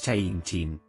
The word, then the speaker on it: Seienchin: combinan calma y explosividad la pronunciación en el dialecto de fujian es Chain chin y sus significados incluyen